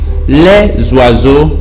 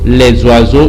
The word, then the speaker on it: les oiseaux: so the topic says le zwarzo les zwarzo you join the s with the o while reading le zwarzo i told you last